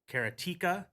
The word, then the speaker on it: Karateka: for me going uh I pronounce it and I've always pronounced it you're going to hear me say this all the time is karateka but then I've heard people say karateka karateka and karate in other ways but uh karateka is the